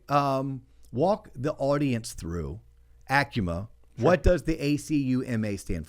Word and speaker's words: ACUMA: And it's Acuma, not Akuma. That's right. I used to always mispronounce it. Akuma, but it's Acuma.